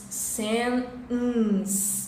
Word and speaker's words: sentence: A palavra sentença eu vou pronunciar sentence. Então esse T, schwa mais N, está no meio delas. Depois a gente vai ter o som de S. Sentence. Pausa o T, schwa mais N, nasal, mais S.